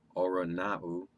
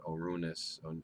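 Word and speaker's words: οὐρανοῦ: So he comes down from heaven, Oranau. I think it's pronounced, some people pronounce that Orunus, or Uranus.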